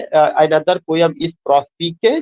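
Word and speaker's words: Prospice: इसका जो प्रोनाउंसिएशन है प्रोस्पाइस नहीं है, इज द प्रोनाउंसिएशन इज प्रोस्पीके।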